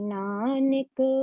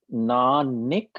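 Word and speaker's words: ਨਾਨਕ: to the whole pronunciation, but definitely नानिक नहीं है बेटा, नानक। There is no syllable with nick, n है ना।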